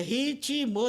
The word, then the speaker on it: ritmo: Então a gramática normativa diz que ritmo tem 2 sílabas. Quando não tem, para a gente ele tem 3 sílabas, é ritmo e não ritmo.